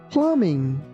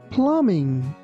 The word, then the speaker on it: plumbing: Here, be careful that we don't pronounce letter B.